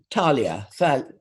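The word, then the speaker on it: Thalia: a plant called um talia if you looked at it and you just said it how it's spelt it would be failure but of course we're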